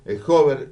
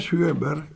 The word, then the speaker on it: Sjöberg: Estoy con Gustavo Hover. ¿Lo pronuncio bien? ¿Es Hover así? Se pronuncia Sjöberg en sueco, pero Ah, está dejémoslo Hover bien.